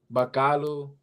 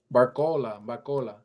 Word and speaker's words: Barcola: But I think that Bacala, no, that's not how you pronounce his name. Barcola.